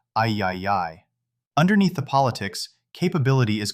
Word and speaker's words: AAAAAI: While Elon Musk proposed christening the new authority the AI Associated Institute of America, Inc., or AAAAAI, pronounced I-YI-YI.